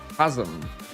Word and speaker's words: chasm: Chasm is pronounced with a K. Chasm, is it?